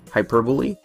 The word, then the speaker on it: hyperbole: a fair bit myself for those wondering it's pronounced hyperbole I'm very familiar with